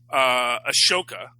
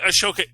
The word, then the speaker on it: Ahsoka: which Ahsoka, is it Ahsoka? I always thought there's an H in there. Well, there is an H, but I think they... Oh, you don't pronounce it. It's a silent H.